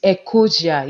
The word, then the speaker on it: Ecosia: Excosia, I don't know if that is how it is pronounced, Excosia or Excosia, whichever, but I like you to just say it so that you don't make a mistake. Okay, um okay, yeah, okay, it is Ecosia.